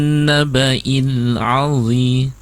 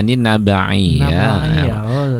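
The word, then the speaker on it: النبإ: Anin naba'il alzi ya, itu kan nabai ya, bukan nabai ya, betul ya. Anin naba'il. Nah, tadi Ibu bacanya gitu. Anin nabai ya. Harusnya alif ya Ustaz ya.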